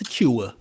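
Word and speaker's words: Achiuwa: Precious Aua.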